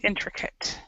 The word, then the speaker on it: intricate: intricate even though it says at it's actually pronounced cut intricate okay and then we've got Hasty impulsive and